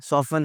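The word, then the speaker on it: soften: सॉफ्टन लफ्ज़ है, सॉफ्टन लफ्ज़ नहीं है, सॉफ्टन लफ्ज़ नहीं है, सॉफ़न है, नरम करना।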